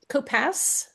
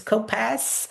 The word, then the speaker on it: Kopasz: It's Kopasz, so it has Kopasz. like an S sound at the end. Okay, so it's Kopasz.